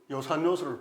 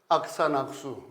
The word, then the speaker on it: 요산요수: 그래서 반드시 이것을 요산, 요수라고 읽어야지 바로 읽는 겁니다. 근데 이것을 한자를 잘 모르는 사람이 악산악수, 낙산낙수 이렇게 읽는데 이것은 망신당하기 쉬운 겁니다.